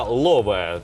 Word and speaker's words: лове: з ромської мови але у ромській мові воно пишеться і вимовляється лове тобто без букви а слово пал в англійській